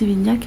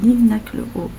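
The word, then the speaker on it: Livinhac-le-Haut: Don les gens prononcent l' vignac mais c'est l'inac le haut et c'est très très beau c'est un superbe village.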